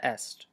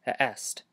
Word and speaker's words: eʔest: The tricky part here is the word est. You're going to have to pronounce the beginning of this word without closing your glottis, and then pronounce the middle of it by closing and releasing your glottis.